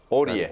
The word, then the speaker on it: Aurier: şeye baktığım zaman Öre diye mi okunuyor? Avre nasıl okunuyor? Hangisi? Sen Oriye. Oriye. Oriye Adı da Serj. Serj ne dedim? Oriye. Serj değil mi kısaca? Kolayına geliyorsa Serj de. Serj Serge Aurier. Serge Sen Aurier.